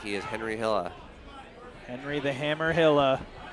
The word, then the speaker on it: Henri: weren't sure if he went with the French pronunciation of the name. But from the crowd, it looks like he is Henri Hila.